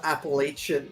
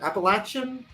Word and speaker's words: Appalachia: I never I thought it was like Appalachian, but I've heard that they actually people from that region pronounce it Appalachia or Oh, okay. It's not It's not the the sh sound. It's more of a ch.